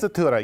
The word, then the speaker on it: sprezzatura: Sprezzatura. Did I say it right? Sprezzatura, yes, exactly.